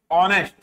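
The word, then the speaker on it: honest: क्या आएगा, इसका प्रोनाउंसिएशन कैसे होगा, ऑनेस्ट, ऐसे बोलोगे ना आप, ऑनेस्ट, ऐसा।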